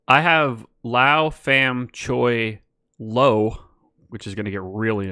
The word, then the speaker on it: Lowe: the minors with Nate Lowe he told lo that by the time he got to the majors the popular pronunciation of their last name would be Lao that's funny yeah that's